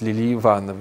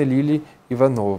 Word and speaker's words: Лили Иванова: лилий Ивановой причём вот Я знаю многие неправильно произносят Лили Иванова нет именно Лили Иванова правильно нужно произносить такая дивная певица была